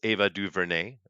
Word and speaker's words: Ava DuVernay: that's pronounced Ava DuVernay, by the way.